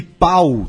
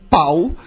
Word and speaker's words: Pau: Eh, em Catalun tem duas maneiras de dizer Paulo, pau e pou p O L. E inclusive ã tem um hospital que é o hospital Santa Cru e São Paulo, que é um nome de um funk inclusive, né?